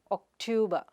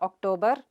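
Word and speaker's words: October: The next word is ok-tow-b. It is not octuber or actuber, but ok-tow-b. The /r/ sound is silent there.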